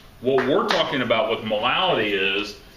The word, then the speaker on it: molality: All right, we've all talked about molarity, but now we're going to talk about molality. Okay, it's not me mispronouncing it.